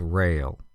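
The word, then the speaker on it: rale: here for the sounds the first one is rail r a l e a rail is an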